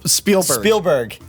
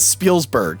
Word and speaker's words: Spielberg: pronounce hallelujah or sp spielberg he says spielsberg he got and i